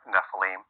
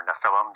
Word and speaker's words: Nephilim: we first encounter the term Nephilim or Nephilim depending on how you want to pronounce that and it only shows